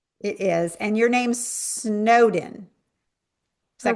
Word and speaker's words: Snowdon: And your name's Snowden.